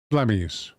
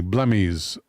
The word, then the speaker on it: Blemmyes: Blemmyes.